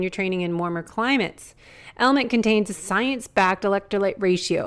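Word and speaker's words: LMNT: sponsors LMN element it's spelled l MNT but pronounced element if you haven't heard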